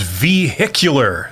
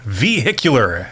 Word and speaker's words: vehicular: of the day is vehicular vehicular accent on the hick uh as in extra